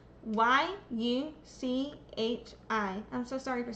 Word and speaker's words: Yuchi: Is is that am I saying that right? Is it Yuchi? I am so sorry. I should learn how to pronounce that one. That's up. Y U C H I.